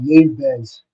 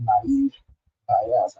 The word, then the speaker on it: naive Bayes: KNN, you have your naive Bayes, some people call it naive bias, as it is naive base. That's how Mr. Blessing pronounced it.